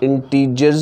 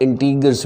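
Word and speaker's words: integers: इसकी pronunciation इंटीजर्स भी है और इंटीगर्स भी है। इसको इंटीजर्स भी पढ़ते हैं और इंटीगर्स भी पढ़ते हैं।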